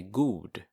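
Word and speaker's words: god: good you would say good good so it's spelled with one o and in swedish you pronounce that good good dog probably you'll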